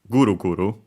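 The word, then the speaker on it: ぐるぐる: Accent on the first syllable again, the first more. Guru Guru, high and everything else slow.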